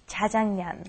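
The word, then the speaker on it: 짜장면: But actually the real pronunciation is Jajangmeon.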